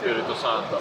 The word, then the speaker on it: Spirito Santo: Spirito Santo.